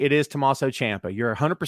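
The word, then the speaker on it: Tommaso Ciampa: right and by the way i love you pronounce his name correctly because no one says his name correctly it is tommaso champa you're 100 right so you're one of the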